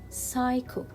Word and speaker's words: psycho: not pronounce letter p here psycho i will not pronounce letter p so it will be psycho psycho and here psychology psychology